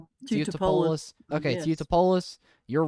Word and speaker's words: Teutopolis: Teutopolis? Is that how you say it? Yeah. Teutopolis?